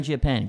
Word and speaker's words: Mangiapane: Now, Andrew Mangiapane, is that how you say it? Mangiapane, pretty good.